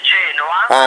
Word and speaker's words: Genoa: Non si dice Genova, si dice Genoa.